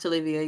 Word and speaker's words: Tolivia: My artist name is pronounced Tolivia, yes.